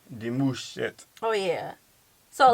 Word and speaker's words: Demouchet: We don't have two T's. No, the M-U-C-H. Demouchet.